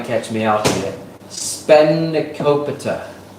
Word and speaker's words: spanakopita: Spanakopita. Spanakopita. Did I say it right? No. Say it again. Spanakopita. Where's that from? Greece. So when I said spanakopita, that's just a typical Australian butcher.